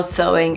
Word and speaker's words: sewing: a very laborious process pay attention to how sewing is pronounced by the way because there is a temptation to read it as suing it's actually sewing so for example if